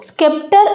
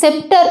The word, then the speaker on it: scepter: ஆனால் நம்ம இதை ப்ரொனவுன்ஸ் பண்ணும்போது ஸ்கெப்டர் அப்படியே சொல்லக்கூடாது, செப்டர் அப்படின்னு தான் சொல்லணும். செப்டர் அப்படின்னா என்னென்னா செங்கோல் அப்படின்னு அர்த்தம்.